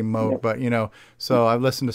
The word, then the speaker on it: Moog: Moog, actually, it's pronounced right, Moog. We say Moog here, but it's actually Moog.